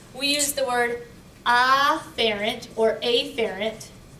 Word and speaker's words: afferent: We use the word afferent or afferent. I usually say afferent. That way I pronounce the A and I recognize that it's an A.